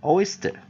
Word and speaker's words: oyster: clam 啊，所以直接套用哈 a 的短母音 a clam clam clam。好，下一个就 oyster，好 oyster，好，我们看它的 interpon 的 st 的这个地方啊，所以你标在 oy